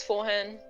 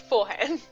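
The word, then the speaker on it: Forhan: spell that f-o-r-h-a-n nice like forehand but not yes just forehand love it now that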